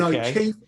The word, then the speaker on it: O'Keefe: And O'Keefe is spelled the Irish way. O-K, 2 E's, 2 F's, and another E. O'Keefe.